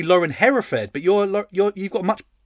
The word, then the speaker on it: Hereford: it when people say how do you say your last name hereford like the cow that that's a sad